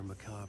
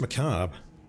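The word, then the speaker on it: macabre: I could imagine this murder cult performing their Macob acts beyond the collapsed tunnel. You know how it's pronounced macab.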